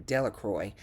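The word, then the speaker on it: Delacroix: Bobby and Henry Jones and Dicky Delroy, the villagers pronounced his name, Delacroy, eventually made a great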